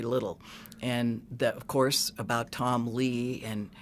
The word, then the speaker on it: Tom Lea: I wouldn't have known because I don't listen to Motley Crue, but it's not Tommy Lee, it's Tom Lea. And the way you spell it is Tom, T-O-M, Lee is L-E-A.